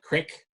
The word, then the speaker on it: creek: But, the creek itself, Rock Creek, Local people call it crick. I, as a Canadian, say creek.